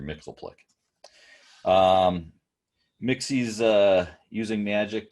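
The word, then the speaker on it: Mxyzptlk: the shop and whatever it's how we pronounced it uh for me it was always mr mixel plick um mixy's uh using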